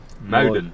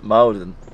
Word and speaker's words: Muiden: This one is harder. Yeah. Muiden. Muiden. Muiden.